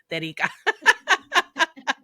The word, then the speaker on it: Terika: note, you know that the only way I know how to pronounce her name is in Spanish, and it comes out perfectly. Terika. And I love and, and it. I love it, so I have to say it in Spanish, Terica.